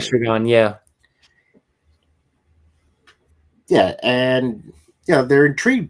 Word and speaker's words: Estragon: I pronounced it right. Estragon, yeah.